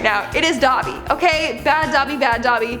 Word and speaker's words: Dobby: dobie on the screen right now it is dobby okay bad dobby bad dobby harry potter must